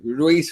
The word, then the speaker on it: Ruiz: This fucking Anthony Ruiz, is that how you pronounce his last name? Ruiz, yeah.